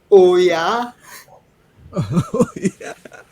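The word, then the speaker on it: OOYA: was optimum yield aggregator o o y a or the other way to pronounce it is oh oh yeah where did you come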